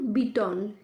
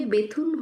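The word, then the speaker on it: Bethune: ইহার নামের প্রকৃত উচ্চারণ বিটন, কিন্তু এদেশে বেথুন হইয়া পড়িয়াছে।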